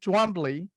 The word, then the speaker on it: Twombly: Jonathan Twombly. Hope I pronounced your name correctly there, Jonathan.